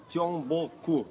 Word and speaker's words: Gyeongbokgung: pronounce the name of this palace? Gyeongbokgung? 경복궁. Gyeongbokgung.